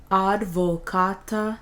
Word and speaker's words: advocata: Advocata nostra. Advocata nostra. The C here on advocata is hard again because the C is followed by an A.